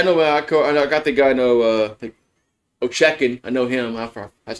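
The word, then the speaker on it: Ovechkin: Ochekin. I know him. That's how you pronounce his name.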